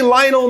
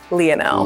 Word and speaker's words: Lionel: But for him, if you meet him, don't say, "Hey, Lionel Messi, I'm a big fan." Don't say that. It should be pronounced Lionel.